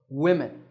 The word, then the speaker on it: women: others in this word notice that we stress the first syllable women the apostrophe the little mark